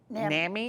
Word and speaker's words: NAMI: correct okay good and you're you're now you're pronouncing it right Nami ornami okay so what is Nami Naomi was